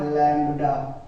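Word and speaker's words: lambda: But this is what लैम्डा। ठीक है, बी वैसे साइलेंट हो जाता है बोलते समय, जल्दी में लैम्डा चलता है।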